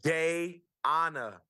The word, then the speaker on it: Dayana: I always, your wife's name, pronounce it Deanna. Is that Deanna? How you say your wife's name? I don't. Sal. Okay, Sal. got you. You guys soon. Got it. Dayana.